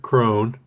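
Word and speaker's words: Croghan: It's spelled like Krogan, but they pronounce it Cone.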